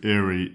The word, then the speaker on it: aerie: at the spelling and thinking that it is spelled similar to Airy a i r y and sounds a bit like that too Eerie Airy if you have an